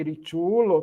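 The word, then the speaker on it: riĉulo: Sim, ritulo. Toda a palavra no esperanta. A sílaba forte é sempre a penúltima. Portanto, tu ritulo.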